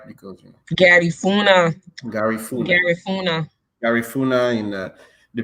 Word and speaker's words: Garifuna: I'm gonna say it right because Garifuna, Garifuna, Garifuna.